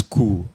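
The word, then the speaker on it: coup: challenge wait one is cool the word is cool c-o-u-p the p is silent then we have absorbed okay short lived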